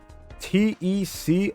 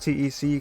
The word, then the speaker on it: TEC: But we say a rowdy congratulations to tec or tech, however you've come to know him as as far as pronouncing that tag. uh if one of the earliest uh interviews uh holds volume he said that uh had in mind of it being pronounced teec cuz that's how he